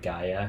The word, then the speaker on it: Gaja: So a number of the places like Gaia in Barolo and whatnot, you can't just go to the vineyard. Gaia is spelled Gaja, and it's sold in the U.S.